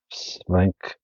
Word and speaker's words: Stanwyck: Jan's Stanwyck Major, the complete short films.